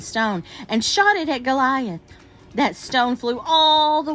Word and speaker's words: Goliath: Goliath and giant both start with the letter G, but they have different sounds. Goliath starts with a hard G. It says G, G, G. And giant starts with a soft G sound. It says J, J, J.